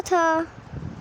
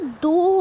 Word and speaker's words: though: Flowers वाले उसमें बताया था वो। ठीक है आपको समझ आ गया। आगे पढ़ते हैं। ये थू नहीं होता, ये दो होता है। दो, इसको हम दो की तरह प्रोनाउंस करते हैं।